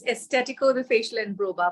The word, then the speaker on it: Estetico: Did I pronounce that right? Yeah, it's Estetico, the facial and brow bar.